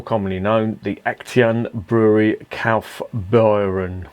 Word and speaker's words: Kaufbeuren: known the action brewery calf byron i think that's how it's pronounced don't give me a